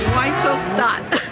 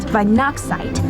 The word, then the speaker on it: Weihnachtszeit: Weichelsstadt. It's actually pronounced Weihnachtszeit, and it means Christmas time in German.